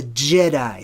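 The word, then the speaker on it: Djedi: class as the jedi the way it's spelled is d-j-e-d-i d-j the d it's become silent in our day and age today but it's j the jedi so anytime you see the d and the j together typically it conveys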